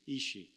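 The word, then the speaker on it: אישׁ: 성경 창세기에서 남자라는 뜻을 가진 말로서 사용된 히브리 원어의 단어는 이쉬입니다. 이쉬. 그리고 하나님이 그 여자의 손을 잡고 아담에게 왔을 때 아담이 그 사람을 보고 여자라는 의미로 사용한 히브리 원어의 단어는 이샤입니다. 히브리에 익숙하지 않은 사람들이 듣기에는 거의 발음조차 똑같은 말처럼 들리기도 합니다.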